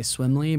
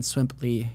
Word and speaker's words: Swimply: I mean, originally I think I was about ready to say Swimly, but then Swimply.